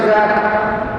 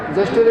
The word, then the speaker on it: জ্যৈষ্ঠ: আমরা এখন বাঙালি বাংলা মাসের নামগুলো সঠিকভাবে উচ্চারণ করতে পারি না। অনেকে বলি আমরা বৈশাখ জ্যাঠ, জ্যাঠ বলি না, জ্যৈষ্ঠকে কি কয়?